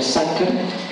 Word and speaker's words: sacer: Homo, hombre, sacer se escribe con un C en el medio, sacer, pero se pronuncia sacer, que en latín significa sagrado.